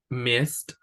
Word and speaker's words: missed: So we have brushed, okay, no pronunciamos la E, missed, very good, pero se escucha un sonido bien fuerte, brushed, porque tenemos que hacerlo saber qué es pasado.